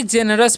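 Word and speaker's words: generous: वी जेनरस पढ़ते हैं। ठीक है, इसे वी जेनरस नहीं पढ़िएगा, यहाँ पर जी जब भी रहता है तो याद रखिएगा उसका उच्चारण ज हो जाता है।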